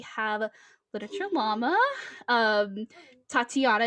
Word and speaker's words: Tatyana: a literature llama um tatiana is how you say it right yeah okay i just